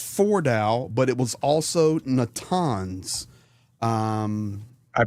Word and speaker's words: Natanz: So it was not just Fordow, but it was also Natanz. I pronounced that wrong. No surprise. So once again, Natanz and Eshahan.